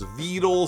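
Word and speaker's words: Vedal: by the way though he initially pronounced it Vettel like pedal the AI always pronounces it as vital so it's kind of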